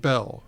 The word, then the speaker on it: Beall: Like every person in Maryland, when I meet a Bell, like there's that antique guy or appraiser guy down Claiborne Bell, he pronounces it Bell.